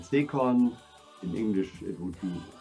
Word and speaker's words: Zekorn: My name is in German pronounced Zekorn.